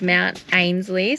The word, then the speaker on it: Mount Ainslie: We are up the top of Mount Ainslie, so I've looked it up. That is how it's pronounced.